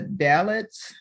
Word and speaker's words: Dalits: This makes me think about, I believe you're working with some people from India, the dalits. Am I pronouncing that correctly?